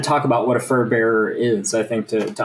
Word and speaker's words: furbearer: So if anybody's unfamiliar um this is the way that you'd say furbearer. It's it's pronounced like kind of like paulbearer.